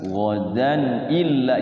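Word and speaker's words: غدا إلا: Wala taqulanna li syai'in inni fa'ilun dzalika ghadan illa. Jadinya idhar. Ghadan illa. Jadi enggak panjang dannya.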